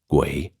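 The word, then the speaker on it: 鬼: In Chinese, it is pronounced guay and usually means pretty much the same thing, but has more of a ghost connotation.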